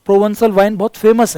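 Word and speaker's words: Provençal: की, वहाँ के जो प्रोवंसॉल, इसका प्रोनाउंसिएशन ध्यान सुनना, इट्स a French word which is यूज for southern France, जो दक्षिणी फ्रांस है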